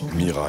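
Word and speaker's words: Miras: bu et de Sébastien Mira s Mira ou prononce pas le S on peut mais on peut mais ça se fait pas mais c'est pas son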